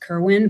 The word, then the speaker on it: Corwin: and corwin uh because it was actually pronounced kerwin but he spelled it corwin and so that pronunciation is just taken on so everyone just calls him jonathan corwin but he would have